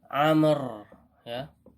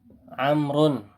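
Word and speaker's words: عمرو: Adapun di sini bacanya apa? Amr ya. Amrun.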